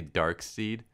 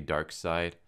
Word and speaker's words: Darkseid: pronouncing the name Ryan I keep like a pronouncing a dark seed but it's actually dark side thinks I figure out